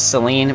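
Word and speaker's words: Selene: full- grown ass man pronounce Seline or Selen I think most people would pronounce this Seline but I'm going to go with Selen so make sure to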